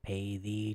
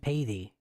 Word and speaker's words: Paythee: Bear, Pay the Cat, Pay the Treant, and so I cut off the descriptor, and now I'm just Paythee, and now everybody calls me Payth, which is not it's not how it's pronounced, but it's too much.